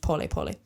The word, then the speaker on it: pole pole: po spelled like pole pole in English but pronounced po po it's Swahili in the Swahili language which is